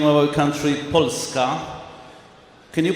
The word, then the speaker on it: Polska: Poland we pronounce the name of our country polska can you pronounce it in Polish polska and what is frieska this is Poland how